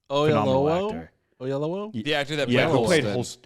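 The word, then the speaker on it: Oyelowo: can't how do you say his last name oh yellow yeah oh yellow oh yeah yeah yellow yeah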